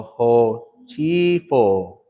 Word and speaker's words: hochifo: What does the E sound make? E, right? So ho chifo.